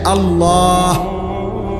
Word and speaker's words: আল্লাহ: উচ্চারণ হইতে হবে শেষে আল্লাহ শেষে একটা গোল হা আছে ছোট হা আল্লাহ মানে আল্লাহু তো